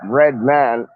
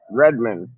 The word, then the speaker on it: Redman: like a red man red man is pronounced red man not redmon you know what i